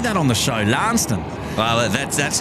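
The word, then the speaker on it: Launceston: where I'm from in the UK which is pronounced lanston lanston yes we always seem to say that on the show lanston well that's that's how it's pronounced in corwell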